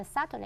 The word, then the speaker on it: subtly: 同学们记得这 subtly S-U-B-T-L-Y 这个 B 不发音啊。Let's take a look at some of the vocabularies.